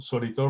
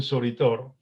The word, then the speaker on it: Soritor: En la segunda edición del libro Soritor, más de 100 años de historia, auspiciada por la municipalidad, dirigida por el actual alcalde, ahí anotamos que Soritor es una palabra compuesta por 3 sílabas. So-ri-tor.